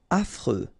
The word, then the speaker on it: affreux: Affreux. Final X not pronounced. And then you get this freux. Freux. Affreux.